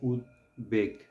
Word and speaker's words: উদ্বেগ: কিন্তু হ্যাঁ আমাদের মানে আমরা যখন উচ্চারণ করি তখন কিন্তু আমরা এটাই উচ্চারণ করি উদ্বেগ এটা উচ্চারণ করি না মানে সাধারণত কিন্তু কিন্তু ভুল হয় এখানে আমাদের উচ্চারণটা হবে উদ্বেগ উদ বেগ এই যে উদ শব্দটা